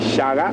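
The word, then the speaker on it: Shaka: h a k a but Zulu a is pronounced as a g so his name is actually Shaga and I'll tell you how he got his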